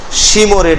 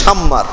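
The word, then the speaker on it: شمر: আপনাদের ওই যে বিশাল সিন্ধুদের শিমর, আসলে শিমর নামটা উচ্চারণ হয় নাই, আমার নাম হলো শাম্মার। কথা বুঝতে পেরেছেন? বিশুদ্ধ নাম হলো শাম্মার, কিন্তু উনি লিখছে শিমর।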